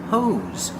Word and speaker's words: hose: This is a hose. Pronunciation, hose. Make the long O sound like no and go. And the S makes a Z sound like zebra.